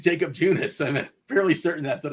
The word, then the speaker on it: Junis: Why are you going Eunice? It's like jogging. Jakob Eunice. It's a fun way to say his name. Junis, gosh. Yeah. Is there only one silent J? I think it's Jacob Junis.